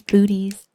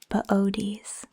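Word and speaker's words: Boötes: One of my favorites we almost see this time of year is booties. It's spelled B O O T E S. It's actually pronounced bodies.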